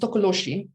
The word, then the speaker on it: tokoloshe: i don't know where i come from it's pronounced tokoloshi okay so it stems from the zulu mythology